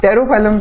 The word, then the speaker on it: Pterophyllum: Pterophyllum starts with P though, but P is silent, so we pronounce it as pterophyllum.